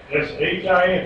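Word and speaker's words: שִׁין: How's this one pronounced? Sin. S-I-N. S-H-I-N.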